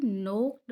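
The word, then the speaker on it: knocked: बल्कि ओ तक चली गई, ये इसमें के साइलेंट है, और नोक्ड में भी के साइलेंट है।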